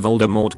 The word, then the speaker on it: Voldemort: You pronounced Voldemort correctly. Thank you. Rhyming with door, not short.